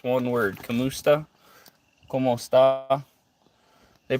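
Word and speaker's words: kumusta: It's one word, kamusta. Ka. They pronounce it the same pretty much.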